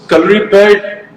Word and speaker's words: Kalaripayattu: So, Kalripet, Ritik, I'm so proud of the fact that you said the name correctly, because in India I don't Thank you.